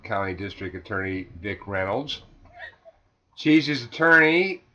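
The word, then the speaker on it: Csehy: Reynolds says the cheesy is under investigation for drug use.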